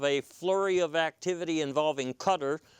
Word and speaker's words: Qatar: flurry of activity involving cutter normally mispronounced as Qatar and Saudi Arabia and